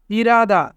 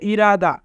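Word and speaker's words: 일하다: ইরাদা, ইরাদা মানে কাজ করা। এখানে রিউল বাচ্চিমের পরে হিউত থাকার কারণে রিউল বাচ্চিমটি হিউতের স্থানে যাবে, তাই উচ্চারণ হবে ইরাদা।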